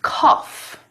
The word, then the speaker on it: cough: K, o, f, cough.